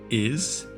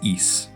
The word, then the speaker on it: Ys: I remember seeing the name and questioning how to pronounce the game. Ys? Is? Yes? Nope, it was Ys.